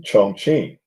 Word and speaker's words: Chongqing: So it's like q iing not a uh a k. So uh actually not a ch.